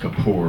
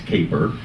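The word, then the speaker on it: Kapor: It was later copied by Mitch Caper who started Lotus. Um a lot of people think his name is pronounced Capor, but it's not. It's Caper.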